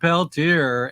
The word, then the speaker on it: Peltier: uh you heard it that's the that's a pronunciation uh all you white people out there it's it's Leonard Peltier and uh yeah and and I'm gonna take